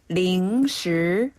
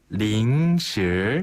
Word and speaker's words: 零食: 중국어로 零食. 零食. 한 번 더, 零食. 零食. 그렇죠. 이때 사랑스럽네요. 네, 발음이 단어 자체가.